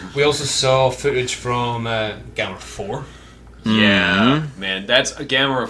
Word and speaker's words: Gamera: We also saw footage from Gamera 4. Yeah, man, that's a Gamera 4. Sorry, I'm pronouncing it the... Gamera.